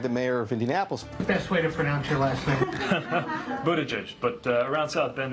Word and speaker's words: Buttigieg: It's not "Budda-edge," it's not "Bood-a-jay," and it's definitely not "Butt-Tag."